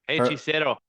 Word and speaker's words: Hechicero: we record that Brian Danielson match, with how do you pronounce his name again? Hechicero. Hechicero.